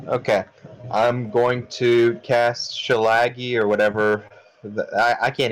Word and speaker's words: shillelagh: I'm going to cast Schillaci or whatever that I can't even pronounce that spell shillelagh shillelagh yes Leila it's Irish yes I'm gonna cast